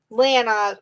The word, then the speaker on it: Lana: Lana rhymes with banana.